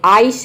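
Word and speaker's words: ice: शुरू में आई आता है, जैसे कि देखिए यहाँ पे आइस है तो आइस में जो शुरू में आई आया है इसको हम आई प्रोनाउंस करते हैं, ये होता है आइस मीन्स होता है बर्फ।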